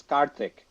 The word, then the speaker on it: Karthik: pronounce his name right it's karthik that's how we say it the original way yeah a lot of